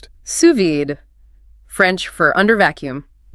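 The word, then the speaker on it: sous vide: And suvid pronounced suvid, French for under vacuum.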